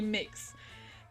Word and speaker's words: Mx: pronounce mix makes mistakes pronounce mix or mux and sometimes mx mux is disgusting it has to be mix yes we're deciding for the world yeah it's mix uh exactly the conversation